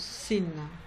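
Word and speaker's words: שׂין: De la même manière, il s'écrit de la même manière, sauf que le point est de l'autre côté et se prononce sin.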